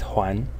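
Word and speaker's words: 睘: This yellow element of the character is pronounced Huan.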